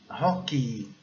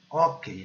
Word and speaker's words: hockey: Hockey. Nós falamos hockey, né? Mas a pronúncia correta é hockey. O E mudo e o I bem forte. O Y bem forte.